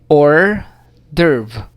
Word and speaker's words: hors d'oeuvre: Alright, this one is pronounced as hors d'oeuvre.